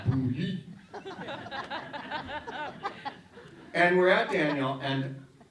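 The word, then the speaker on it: Boulud: out, in fact, that boo is pronounced differently than you. Because boo is O-U, which is oo, and L-U-D is you. So it's boo-you.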